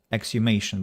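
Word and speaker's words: exhumation: there is exclamation uh xu exumation without age being pronounced exhibition is when you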